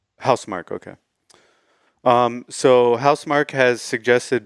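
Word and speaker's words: Housemarque: I think it's pronounced Housemark. Housemark, okay.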